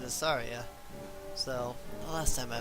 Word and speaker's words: Saria: And I was like, I'd always called her Saraya, you know? But in the end I was like, oh, okay, well that does make sense if we're going with like a Japanese pronunciation. Because that's how the I is pronounced in Japanese.